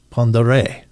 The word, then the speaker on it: Pend Oreille: Uh it looks like Pend Oreille, but it's actually pronounced Pond Oreille.